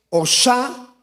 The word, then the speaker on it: Hosana: La palabra hosana, que realmente en el hebreo pues se escribe, bueno, se lee Osana, Osana.